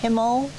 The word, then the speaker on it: Himmel: and the earth, or the Himmel, and Jord. Did I pronounce that correctly? Yes, yes, that's good.